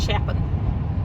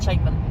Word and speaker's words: Chapin: muray and the GP actually pronounces that as chapping instead of chaping if your Sol is